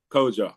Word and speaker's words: Kojo: Is that the way am I pronouncing it correctly? Kojo. Kojo.